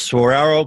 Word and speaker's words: saguaro: And that's really desert because you got those big cactus, saguaro cactus. Is that how you say it? Oh, yeah. Yeah, saguaro cactus, cholla.